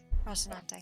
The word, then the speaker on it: Rocinante: Rocinante. See, That's how you see.